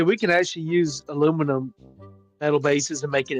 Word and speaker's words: aluminum: know why the Britons call it aluminium and we call it aluminum, as it should be pronounced?